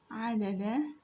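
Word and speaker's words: عَدَدَ: So the first letter here is ayn, ayn is pronounced as a. The second one is dal, pronounced as da. And the third letter is dal with a fatha over it also and pronounced as da. Da. Adada. Da.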